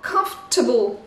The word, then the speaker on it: comfortable: Donc le A n'est pas prononcé A. Et en plus, vous voyez dans la petite transcription, le fort disparaît. Donc on a vraiment comfortable. Comfortable. Donc le A prend un E, un son E. Et le fort disparaît. Comfortable. C'est vraiment comme si on avait deux sons.